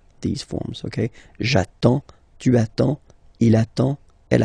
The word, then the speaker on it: j'attends: Okay, you get D and S, well, basically you don't pronounce them, okay, and then you get only the sound attends, nasal here, en, j'attends, okay.